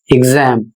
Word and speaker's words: exam: इसलिए इसे पढ़ा जाएगा ग और ज। जैसे जैसा कि इसका उच्चारण होगा एग्जाम।